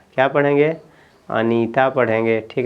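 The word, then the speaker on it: Anita: टी ए तो आप यहां पे इसको पढ़ेंगे अनीता क्या पढ़ेंगे अनीता पढ़ेंगे ठीक है ना य आप अनीता ऐसे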